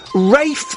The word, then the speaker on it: Ralph: Rafe finds my fist in his face because his name is pronounced Ralph.